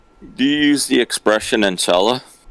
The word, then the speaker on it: inshallah: Yes, inshallah. Do you say that all the time? Yeah. So you say enchilada. No, inshallah. Inshallah. It's, like God willing.